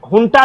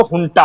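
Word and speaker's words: junta: वहां की आर्मी का शासन हम म्यांमार की भाषा में इसे हुंटा कहते हैं। जे यू एन टी ए लिखते हैं उसको तो बहुत सारे लोग यहां जटा पढ़ते हैं। लेकिन जो सही उच्चारण है जो म्यांमार भाषा में है वो हुंटा है।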